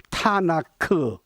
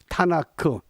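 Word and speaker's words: תנ״ך: 성문서의 대표가 시편입니다 K 그래서 원래 히브리 문자에 모음이 없습니다 그러나 발음을 하기 위해서 모음 아를 붙이면 타나크 타나크 이것이 유대인의 성경입니다 우리가 말하는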